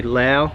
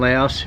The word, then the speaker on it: Laos: probably hear me say Lao and Laos, referring to the country. What Jürgen says is true. It is pronounced Lao, and I pronounce it both ways because I grew up in the Western world.